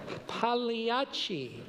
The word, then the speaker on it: Pagliacci: the great clown Pagliacci pronounces his name with a silent G. Pagliacci.